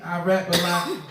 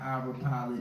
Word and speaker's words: Irapalot: I rap a lot. The same way you hear this, how it's spelled IRAPALOT, not Ira Pilot.